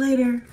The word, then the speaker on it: later: talk to you later the T in the word later is actually pronounced as a lingual flap T so it will sound more like a d later instead of later talk to you later this lingual flap te occurs when a t is surrounded by vowels or RS and it's unstressed the r in later